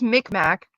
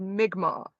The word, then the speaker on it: Mi'kmaq: There's Micmac, which is not supposed to be called Micmac. Micmac Mall is named Micmac Mall because us fucking white people could not pronounce the word Mi'kmaq because the Mi'kmaq people are the Mi'kmaq people. We pronounced it Micmac and called the mall the Micmac Mall.